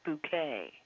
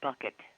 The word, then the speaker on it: Bucket: And I used to, when I'd stay at my grandmother's, she'd have that on, and it was Hyacinth Bouquet. Yeah. But people would pronounce it bucket.